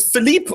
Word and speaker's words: Philipp: And is it Philippe or Philip? How do you pronounce it? It's Philip, actually.